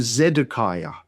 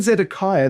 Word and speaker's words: Zedekiah: So in Zedekiah the final syllable there it starts with a vow. Ah starts with a vow but in the Hebrew it's actually a Y ah. So y z a kaya.